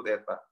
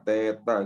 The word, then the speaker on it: theta: Namanya dibacanya itu theta. Dibaca theta gitu ya.